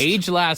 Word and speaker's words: agelast: pronounced let me see this is what Miriam Webster says agelast agil agast agelast sounds like some sort